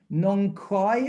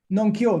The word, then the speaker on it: Nong Khai: I got north to Nong Khai, is it? K-H? Nong Kyo.